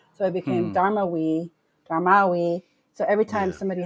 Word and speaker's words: Darmawi: So, but my dad, as a form of resistance, kept the phonetic pronunciation of our last name, and put it on the back of our name, Dharma. So it became Hmm. Darmawi.